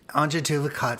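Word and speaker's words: Antje Duvekot: And Anja Duvacot, for those of you that want to know how to spell it, and it's even harder to pronunciate than spell, it is ANTJEDUVEKOT.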